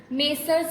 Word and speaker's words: Messrs: Examples of it: Ram's Capital, Sham's Capital, Messrs Ravindra Trades, Messrs Pandit and Kulkarni. Now what M/S means? How you pronounce it? Messrs.